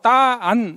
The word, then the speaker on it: 딴: 그냥 딴 하지 말고 따안 이런 식으로 하라는 거예요.